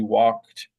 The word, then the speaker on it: walked: this the voiceless C walked voicelessness of the C affects the pronunciation of the D so it's pronounced like T but anyway the the